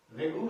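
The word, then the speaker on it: Regur: I think it should be रेगुर soil. You करके यू थोड़ी बोलते हैं, तो रेगुर, हाँ स्पेलिंग याद रखना तो लंगूर याद रखना, लेकिन लंगूर का डबल ओ नहीं है, इसमें यू है।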